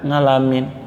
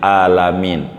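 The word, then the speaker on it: العالمين: Maka untuk bisa orang yang baca ngalamin nih, untuk supaya benar, rombak dulu jadi hamzah ibdalnya, ainnya jadi hamzah, orang kita sebut jadi alif. Alhamdulillahi rabbil alamin, dari a ini pelan-pelan jadi a.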